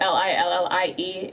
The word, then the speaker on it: Lillie: Even though my name is spelled Lillie, it is Lilli and then PIE 101.